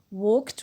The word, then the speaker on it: walked: They walked, one word, even the ed does not include or add an extra syllable. So walked, one syllable, to the store to buy chocolate.